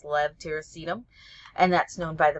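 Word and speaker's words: levetiracetam: of Tegretol or epitol levtiracetum which almost everybody mispronounces it's kind of a a hard one even pharmacists had trouble with that for a very long time but it's Lev tyracetum and that's known by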